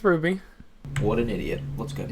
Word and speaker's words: RWBY: likes what is it is it ruby or rwby what what exactly how do you say that ruby is how you say it yeah it's ruby what an idiot what's